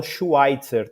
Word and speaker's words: Schweitzer: Eu até nem faço tanta força no alemão. Eu normalmente falo Schweitzer, tá?